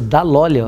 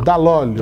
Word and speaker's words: Dall'Olio: nosso colega, companheiro Leandro Dall'Olio. É bem italiano esse Dall'Olio, né? Totalmente. Eu pronunciei certo? Isso, Dall'Olio. Dall'Olio.